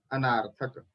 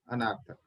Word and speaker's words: अनर्थक: तीसरा वाक्य दोष है, वह है अनार्थक। अनार्थक तो अनर्थक ऐसे प्रोनाउंसिएशन करना चाहिए, अनार्थक नहीं।